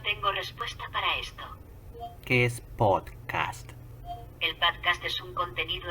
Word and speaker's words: pódcast: si se sorprende porque no es podcast es podcast con la acentuación o la parte tónica donde ponemos la fuerza en pot no en cast podcast así que si